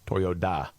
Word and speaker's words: Toyoda: But progressive investors are seeking to oust the chairman, Akio Toyoda, which is spelled with a D, D-A, Toyoda, and are pushing a